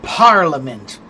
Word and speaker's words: parliament: So if I say the word parliament, the first word is stressed, right?